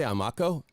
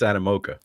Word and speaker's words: Animoca: What did I say? Amako? Emiko? No, I said it wrong right now, too. So it's Animoca. Animoca.